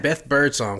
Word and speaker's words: Birdsong: We've got Beth Birdsong, correct?